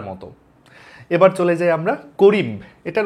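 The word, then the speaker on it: corymb: এবার চলে যাই আমরা করিম এটার উচ্চারণ আসলে করিম না লাস্টের এই বিটা উচ্চারণ হয় না উচ্চারণ হওয়া উচিত তাহলে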